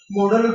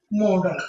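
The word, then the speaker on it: modal: মোডাল বানানটা খেয়াল করেন, এম ও ডি এল, নট মডেল। এম ও ডি ই এল, নয়, মোডাল।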